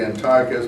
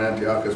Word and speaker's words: Antiochus: Jews did not expect Antiochus, or Antiochus, however you want to pronounce it. I think officially it should be Antiochus, but to my mind, Antiochus works better.